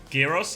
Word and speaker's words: Gyros: Gyros? Yeah, I had some Gyros. I don't know if I'm saying it right still. Gyros? Gyros? Yeah. Gyros. Gyros? Gyros, I think. I don't think you say the G.